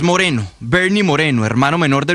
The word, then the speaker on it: Moreno: Néstor, su apellido lo pronuncia Moreno, pero es Moreno, Bernie Moreno, hermano menor